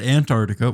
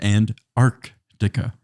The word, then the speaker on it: Antarctica: how to say it you said Antarctica which is correct and I said anarctica oh the north cuz